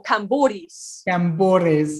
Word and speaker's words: Kampouris: the right way is replace the p with a b sound so cambodis okay so now you